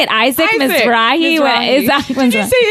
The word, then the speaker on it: Mizrahi: every That's- name wrong. when I'm what is? How do you say it? Isaac Mizrahi.